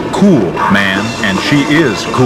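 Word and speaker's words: Kuhlman: competitor Stephanie kman and when you look at her name k u h l m a Ann you ask the Phanatic pronunciation she writes cool man and she is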